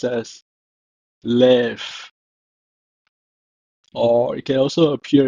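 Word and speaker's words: לֵב: It's pronounced as lev, or it can also appear in this form, levav, levav.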